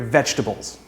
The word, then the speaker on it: vegetable: will sound completely different vegetable vegetable vegetable cabbage carrots and broccoli are some of my favorite vegetables it's not fed this word has three syllables not four vegetable comfortable comfortable comfortable this